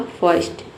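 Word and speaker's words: first: ट ये हो जाएगा आपका फर्स्ट।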